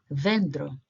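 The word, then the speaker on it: δέντρο: Remember, the first 2 make a combined sound, vendro.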